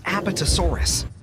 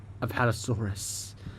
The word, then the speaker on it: Apatosaurus: When several Allosauruses gathered in a group, they could take down even such colossal creatures as Apotasaurus. That's not how you pronounce Apatosaurus.